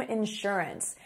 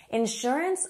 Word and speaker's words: insurance: Next, if you do buy that house, you're going to need home insurance. Insurance, or some people say insurance. It's just a different way of stressing the stressed syllable.